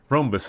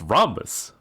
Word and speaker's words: Rhombus: Rombus is going to be there. And that is it. No, it's Rhombus. Why am I mispronouncing it?